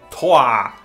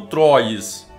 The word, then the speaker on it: Troyes: da idade média e é francês então a pronúncia é coar o aprendi no Google tradutor e fica aí a denúncia que eu já vi gente falando troyes Oi e aí galera